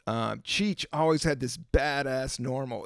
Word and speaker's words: NORML: If you look at the old Cheech and Chong movies, Cheech always had this badass Normal. It's like purple, and it has and it's spelled NORML.